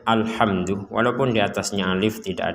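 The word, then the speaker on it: الحمد: Jangan sampai dipentalkan alhamdu.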